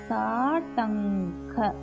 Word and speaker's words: தாட்டங்க: தா டங்க தாட்டங்க. தா தமிழுக்கு வர தா. டங்க க கமலாக்கு வர க.